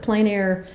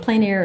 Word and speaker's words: plein air: it pronounced several ways it's a French word plain-error refers to outdoor painting it's just simple as that like alfresco in Spanish okay plein air is French for outdoors and so like you